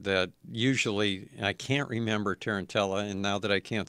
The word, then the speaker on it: Tarantella: Tarantella.